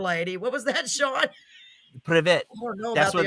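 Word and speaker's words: Привет: Privet. I don't know that's about that's the hello in Russian is privet.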